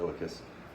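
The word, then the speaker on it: iliacus: is activated with the psoas major and uh ilicus um make sure i pronounce that correctly yes the ilicus uh and most of the time uh when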